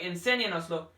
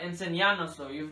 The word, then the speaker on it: enséñanoslo: So if you just say enséñanoslo, it'll sound like enséñanoslo, not enseñanoslo. You'll never hear that in conversation.